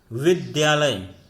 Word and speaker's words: विद्यालय: जैसे यहाँ पर द में हलंत और या द्या, विद्यालय शब्द लिया हमने, शुद्ध रूप है, लेकिन उच्चारण करते समय बहुत सारे लोगों को विद्यालय सुनता, विद्यालय उच्चारण करते हुए सुना होगा, विद्यालय विद्यालय, तो ध्यान न होकर के द्या होता है।